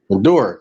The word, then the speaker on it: Maduro: the governors that were with uh I cannot pronounce his name. I always say Mufasa, Medusa Maduro? or whatever. Maduro.